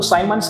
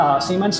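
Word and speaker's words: Siemens: एक वैज्ञानिक थे, आप इसको साइमंस कह सकते हैं, सीमेंस कह सकते हैं, जो भी आपको सही लगे प्रोनाउंसिएट कर सकते हैं।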